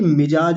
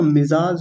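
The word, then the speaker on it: मिज़ाज: बता रही है कि मिजाज नहीं होता मिजाज होता है मिजाज ऐसे यहां पर नुक्ता लगा होता है इतना बारीकी से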